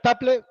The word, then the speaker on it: TAPLE: parte que es tablet al final taple Como Luis José es la pronunciación temas Apple es la